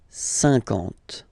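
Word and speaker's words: cinquante: Remember that you get this QU, but then you don't pronounce the U. And then you get the nasal, un, and then en. 50, 50.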